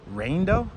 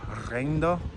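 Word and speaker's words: riendo: All right, I'm gonna say it like an American. Reindo, R-I-E-N-D-O. But I think you're supposed to pronounce it with an accent. Reindo.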